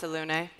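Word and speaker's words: Selûne: Because I think it was maybe Priestess Prune, and she'll be in the Temple of Saloon, like that little rhyme. Yeah. All right. It's pronounced Salune.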